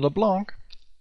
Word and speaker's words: LeBlanc: And they have a spike damage dealer in LeBlanc, sorry. Yeah, I keep forgetting it's actually supposed to be pronounced in French, because it is a French name.